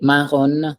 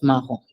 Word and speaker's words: marron: Brun, brun, marron, marron. brun, Oui. brune, Brun, oui. Then marron, marron, oui. marron, Yes. We don't say marron. No, we don't say that. It's marron.